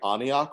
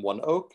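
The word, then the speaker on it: ONEOK: fun oh funny thing i kept on saying anyak rather than one oak because i didn't understand that that was the pronunciation i was like yes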